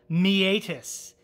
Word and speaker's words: meatus: associated with your ear, meatus. It's spelled like meet us, as in M-E-A-T-U-S, meatus.